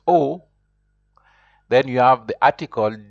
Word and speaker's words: aux: and then you have a u x which is also pronounced o then you have the